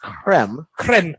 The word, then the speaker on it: creme: The East Ridge drink is the East Ridge Frappuccino, which is a pumpkin spice with creme, as properly pronounced.